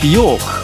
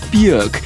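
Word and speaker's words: Björk: the new one from bjork what a year for that lady bjork or bjork pronounce it how you like apparently she prefers the buick and that is big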